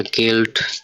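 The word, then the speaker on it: Geld: Next ওয়ার্ডটা গে দিয়ে, এখানে লেখা গেল্ড, গেল্ড অর্থ মানি বা টাকা। তো এটা উচ্চারণ হবে গে, এ, এল, ডে, গেল্ড।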